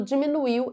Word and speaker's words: diminuiu: O vocábulo diminuiu é uma oxítona não acentuada. Sim, é uma oxítona. Diminuiu, então é uma oxítona porque a última sílaba é a mais forte e não é acentuada.